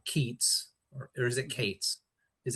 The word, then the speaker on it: Keats: the capital city of Hyperion which is called Keats or is it Kates? Is it Keats or Kates? It's Keats.